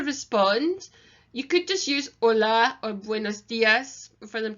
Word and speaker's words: hola: like I said before with hola the H is silent and the SI e